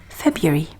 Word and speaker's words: February: So whether they're Americans or British, the younger people are, the more they're tending towards the y pronunciation in February.